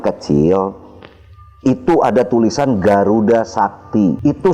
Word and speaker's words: Sakti: itu ada tulisan Garuda Sakti itu Sakti itu ditulisnya itu huruf C pakai curak di bawahnya kayak koma gitu dan dibacanya sakti pelafalannya tapi penulisannya begitu lalu saya coba lagi